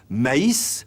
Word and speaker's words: maïs: voyelles distinctes par exemple maïs ne se prononce pas comme mais traditionnellement le tréma se